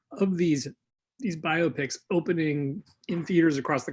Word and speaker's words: biopic: derided, and that is the biopic, not the biopic, as some people call it. Even though I like that pronunciation because of the rhyme with myopic, I hear people use it a lot. I'm pretty sure the correct pronunciation is biopic. It's a biographical picture.